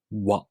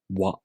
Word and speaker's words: わ: For the Japanese W sound, the lips are not rounded, not like this. Wa, wa, wa.